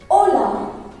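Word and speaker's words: hola: those which is greetings first we have is ola ola which is hello or hi so just remember it is silent in spanish so it's pronounced as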